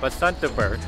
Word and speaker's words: Basantapur: one is amazing so we are now in basantaver one of the the square I said it